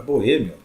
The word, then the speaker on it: boêmio: A vogal I sai mais fraquinha, né? Aqui ó, na pronúncia, e a vogal O vai lá para cima na pronúncia, ela sai mais forte, né?